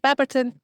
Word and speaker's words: Baberton: I don't know if I'm pronouncing that right. Yeah, that's right. Baberton.